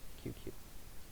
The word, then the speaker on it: QQ: QQ. You don't drag out the U, the oo sound.